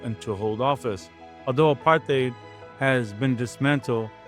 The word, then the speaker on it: apartheid: They used the resources of power to enforce a system called Apartheid, which is pronounced apartheid, the separation of the races.